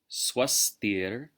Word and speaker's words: svastir: Sarveshām svastir bhavatu. Now notice the V is pronounced like a W.